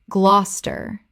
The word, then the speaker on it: Gloucester: Glos-ter. Glos-ter. Word 103. Edinburgh. Common mispronunciation.